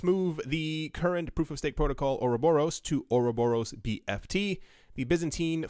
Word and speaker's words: Ouroboros: I thought it was Ouroboros and then Ouroboros. I learned how to say this as Ouroboros, so it will be said as Ouroboros.